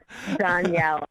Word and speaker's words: Dhonielle: my name so i'm pretty easy to find danielle it's t-h-o-n-i-e-l-o-e it's weird my parents are strange